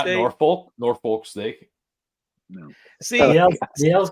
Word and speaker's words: Norfolk: Norfolk State. No. See, The L's kind of think- silent when you pronounce see, it.